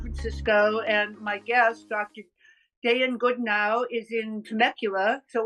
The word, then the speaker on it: Dayan: I asked Jessica, your assistant, because your name, Dayan, I heard some people pronounce it Dan and some people pronounce it Dayan. So which do you prefer? Oh, Dayan. Day in, day out.